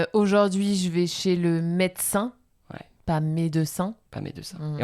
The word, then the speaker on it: médecin: d'un mot comme ça, entre deux consonnes, médecin, c'est entre le D et le C, donc deux consonnes. Voilà, on mange le E.